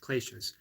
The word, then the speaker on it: kleshas: So I believe it's pronounced kleshas.